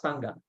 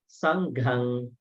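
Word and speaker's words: Saṅghaṃ: Then Dhammang, not Dhamma. Dhammang Saranang Gacchami. Here, not Sangha. Sanghang. Sanghang. See, there's H.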